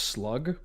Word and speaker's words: slough: There's I'm actually pretty sure with regards to geology, it's a slough. It's pronounced slug.